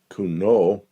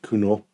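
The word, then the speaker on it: Cugnot: And I don't know how to It's French, so it's like kuno. I don't know. You don't pronounce the end of the You don't use most of the Yeah.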